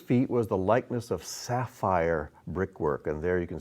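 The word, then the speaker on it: ספיר: It's pronounced sapphire in Hebrew, but this, whoops, I don't know what happened there, but I'll be more careful.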